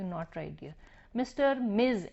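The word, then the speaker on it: Ms: not right dear mister Mizo एमएस is pronounced as Mizo it is pronounced as एम आई जड but written as एम एस मिस और मिसेस again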